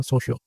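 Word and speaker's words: Saussure: थे फना डी सोशो अब इसे कुछ लोग ससुर के तौर पर प्रोनाउंस करते हैं लेकिन आई pronounce it एज अ सोशो उनका कहना था कि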